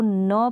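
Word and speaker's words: knee: next देखें, के और एन का कॉम्बिनेशन है, इसको न प्रोनाउंस करते हैं, यानी के इसमें साइलेंट है, जैसे नी है, के साइलेंट है, न्यू है, न्यू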